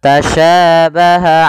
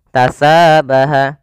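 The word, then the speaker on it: تشابه: Kemudian pada lafal tasyabaha alaina. Pada lafal huruf sya ini jangan kita rubah dengan huruf tha misalnya tasabaha, atau dengan huruf sin misalnya tasabaha alaina, karena dia nanti merubah sifat dan hurufnya.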